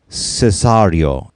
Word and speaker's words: Cesario: pronouncing it with the traditional italian cesario but it's kind of a more americanized long brighter a cesarean it can be pronounced either way either sounds great i